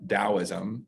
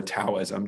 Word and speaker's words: Taoism: a little series on taoism or taoism depending on how you want to pronounce that that t uh i think it's technically pronounced with a d sound um but taoism and uh he did